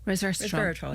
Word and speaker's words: Resveratrol: Resveratrol, am I pronounced that right? No? Resveratrol, yes, yeah.